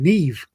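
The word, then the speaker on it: Niamh: I have a uh I have a cousin named Neve. Yeah. N I A MH.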